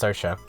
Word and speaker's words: Sercia: map and also uh sercia that's that's her name it's actually pronounced socha um we'll we'll check